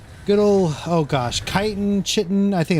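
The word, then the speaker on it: chitin: Chitten. I think it's called kiten. I pr I've always pronounced it as kiten.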